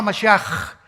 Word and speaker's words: Mashiach: Se escribe Mashiach. Jesús el Mesías en el hebreo. Pero se pronuncia la CH. Yeshua Mashiach. Y siempre pronuncian dándole mucho énfasis a la palabra J en el hebreo.